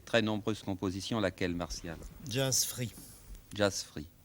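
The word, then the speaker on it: Jazz Frit: Jazz Free, Jazz Free. Mais comment est-ce que cela s'écrit? comme ça se prononce, F-R-I-T. C'est un jeu de mots.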